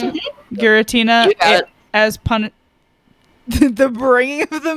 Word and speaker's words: Giratina: Is that how you pronounce it? Giratina as the bringing of the mic closer.